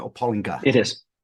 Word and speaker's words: Pollinger: as we go forward your last name is pronounced Pollinger or Pollinger it is Pollinger yeah you you are a true industry